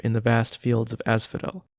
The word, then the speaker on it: Asphodel: the vast fields of Asphodel which in my mind was always pronounced as fodal but I guess not Hades normally keeps them